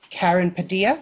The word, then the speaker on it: Karen Padilla: Also wanted to thank Karen Padilla. Did I pronounce that right? Yes.